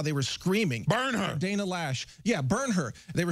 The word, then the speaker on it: Loesch: lower lash it / it's actually pronounced lash but it's spelled Loesch yeah so I I